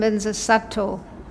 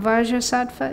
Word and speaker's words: Vajrasattva: So again, you can take your pick. You can say Om Vajrasattva if you want, or you can say Om Benza Sato, as you like.